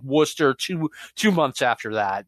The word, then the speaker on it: Worcester: Backlund in Worcester Massachusetts Worcester that is how it's pronounced and that that took me a back when I first moved up here now I like the sauce right this Worcester Worcester like w-o-o-s-t-e-r Worcester okay yeah